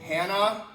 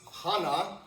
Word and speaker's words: Hannah: see like names like Hannah or Savannah, they put an H on the end, but you don't pronounce it, right? Silent. Silent. Exactly. Okay. But Hannah comes Hana comes from Hebrew.